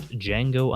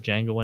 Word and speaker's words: Django: So we'll be taking a look at Django Unchained, which is a reimagining of the 1960s Django Western series as well. The D is silent.